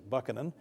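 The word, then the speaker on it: Buchanan: Harding and Ulissiz Grant usually on grounds of their presidencies were notoriously corrupt and James I believe the correct pronunciation actually is Buckan and Andrew Johnson uh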